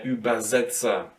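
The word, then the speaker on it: Übersetzer: middle as well so the same goes for their uberzetza and it is actually pretty much the same thing here like with kinder summer kids room um it is the translator and for this one as well you have to say uber uber uberz see if you want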